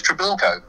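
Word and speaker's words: Treblecock: his name down and he probably announced his name was his name was tribalco and i said oh how do you spell that i had my own ideas about how drabilco was spelled but it was actually spelt t-r-e-b-l-e-c-o-c-k which is a triple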